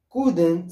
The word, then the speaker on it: couldn't: pas couldn't he couldn't L لا نقوم بنطق هذا الحرف L couldn't sleep لم يستطع النوم